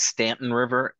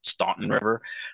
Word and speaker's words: Staunton River: usually attend is um they call it Stanton River although if you look at it it you would think it's pronounced Staunton River um but something River